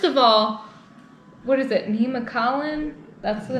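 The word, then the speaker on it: Nemacolin: all what is it nema collin that's the name of the resort is that how you say it yeah nema collin nimasalan something it's a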